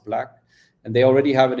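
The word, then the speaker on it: BLVCK: are backing one called black blv ck which is pronounced black and they already have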